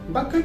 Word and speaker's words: bucket: is the word button bucket is spelled as b u c k e t again c count before the letter k that's why i see silent one more example is